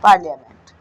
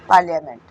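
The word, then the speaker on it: parliament: पार्लियामेंट, ठीक है, पार्लियामेंट, तो इसमें आई को हम साइलेंट पढ़ते हैं।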